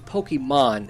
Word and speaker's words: Pokémon: Yeah, and by the way, it's Pokemon. It's that's the way the Japanese pronounce it. I have no idea. Pokemon Go.